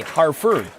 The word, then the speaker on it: Harford: spelling hartford's name there's pronounced almost like the heart for the whalers but no t harford correct spelling one and